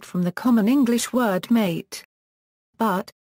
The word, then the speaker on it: mate: But, the Yerba Mate Association of the Americas states that it is always incorrect to accent the second syllable, since this creates confusion with an unrelated Spanish word for killing.